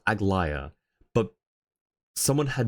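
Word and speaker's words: Aglaea: Yeah, in Star Rail it's pronounced Agllaya, but someone had mispronounced it Agala and I spelled it Agala the way that they pronounced it.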